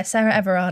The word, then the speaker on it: Sarah Everard: it how do you say her name yeah sarah everard i think yeah it was confirmed that her